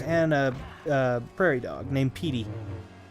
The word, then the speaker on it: Petey: We have six puppies, 4 kitties, a snake, 3 birdies, and a prairie dog named Petey. PD like prairie dog, but Petey pronounced Petey, right?